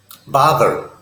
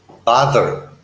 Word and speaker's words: bother: the guideline here because this is a th sound in English it's not the letter D the put your tongue under your front teeth and use your voice bother bother you can begin